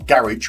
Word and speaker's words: garage: Just got done sweeping and spraying down my garage floors or garage where I'm from. Garage. Spelled G A R I J phonetically.